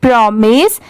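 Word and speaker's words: promise: इसे क्या पढ़ेंगे प्रॉमिस पी आर ओ प्रो होता है और एम आई एस E miss होता है। ठीक है? बहुत सारे जगह पर इसे माइस भी प्रोनाउंस किया जाता है। बट यहां पर इसकी साउंड क्या है? मिस की है।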